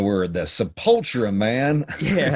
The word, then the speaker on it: Sepultura: so yeah but they they put the emphasis on the wrong part of the word that's subpultura man yeah it's like